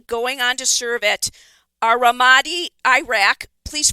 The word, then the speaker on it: Ramadi: So you enlisted in the Army, going on to serve at Ramadi, Iraq. Please pronounce that correctly for me.